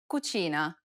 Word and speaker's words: cucina: and i sounds together this sound is identical to the ch in church the only difference though